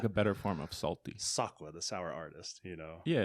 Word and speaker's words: Sokwa: So I added an A, so that way I could tell people it's pronounced this way, Sokwa.